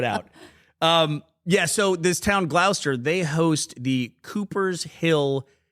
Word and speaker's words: Gloucester: That is pronounced? Gloucester. That's very phonetic of you. It's pronounced Gloucester.